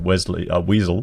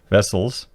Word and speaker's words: Vessels: In a statement, Jacaranda Finance CEO Daniel Vessel, or I keep thinking I was going to pronounce that Weasel, but Vessels, defended his business's right to operate.